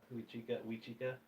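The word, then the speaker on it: Huichica: Wachika and We Chica. It's one of the two. It's Wachika. HUIC.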